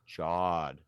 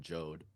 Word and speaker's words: Jod: is more Jod than Jode. It's like God, but with a J.